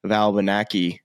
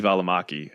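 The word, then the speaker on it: Välimäki: But does the average Joe Schmo want to watch Jake Knapp and Sam Valbanaki? Is that how you pronounce his last name? That was that terrible? You somehow Americanized Sammy Valimaki.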